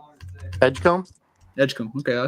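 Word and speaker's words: Edgecombe: Edgecom.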